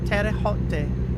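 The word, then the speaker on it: Terre Haute: Let me Can I get a pronunciation? Ter terra hot. Let me let me hear it. Terraote. Terraote according to Google.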